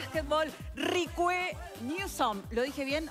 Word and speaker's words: Reque: Cuando llegaste a Uruguay decían Ricue, Rique, no, Enrique, de todo, me imagino. ¿Y cuál es la pronunciación correcta? Ricue. Ricue.